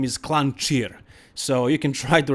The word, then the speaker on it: Klancir: peter it's pethar and his last name is clan cheer so you can try to remember it but peter clancier also works i guess so finally he got